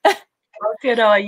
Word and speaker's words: Aotearoa: And then you helped prevent 2.2 million tampons and pads from reaching the landfill in Aotearoa. Did I pronounce it correctly? Aotearoa, yeah, you're on it.